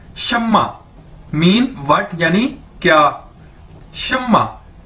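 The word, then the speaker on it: 什么: के एक नाम भी है शम्मा ठीक है शम्मा शम्मा इसको कैसे बोलेंगे शम्मा और इसका मतलब क्या है व्ट यानी क्या ठीक है शम्मा मीन व्ट यानी क्या शमा शमा तो अब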